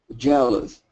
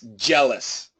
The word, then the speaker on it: jealous: Jealous. Yes. It's not loss. Don't worry about loss. It's less. Jealous.